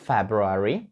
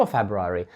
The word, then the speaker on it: February: правильні вимови цього слова ви можете сказати february та їх написано А можете сказати fabulary без вимовляння букви R fab You are або fabrary тобто дві вимови повністю правильні і залежать Де Ви знаходитесь і там будуть використовувати